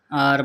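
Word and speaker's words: 二: আপনাদের মাঝে আরও একটা ভিডিও নিয়ে আসলাম। Welding Bangla TV, Bangla two China. China ভাষা শিখতে আমাদের চ্যানেলের সাথে থাকুন, সাবস্ক্রাইব করুন। আর ভাষা খাতায় লিখে লিখে প্র্যাকটিস করবেন, তাহলে অল্পর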